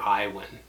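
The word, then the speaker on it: Iwan: is honors chemistry and my name is mr iowin it's spelled i-w-a-n i know it's a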